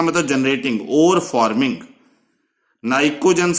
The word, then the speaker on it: pnicogen: इनको हम बोलते हैं नाइकोजन P जो PNICOGEN, पर नाइकोजन नहीं कहना इसमें, P साइलेंट है यहां।